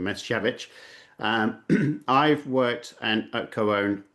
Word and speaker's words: Misiewicz: Um, and my name is Mishvich. Uh people do call me Mischief because it's easier to pronounce rather than mechavich.